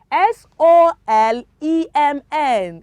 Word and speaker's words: solemn: end of the world when you have letter n coming um just right after letter m it is silent it is what children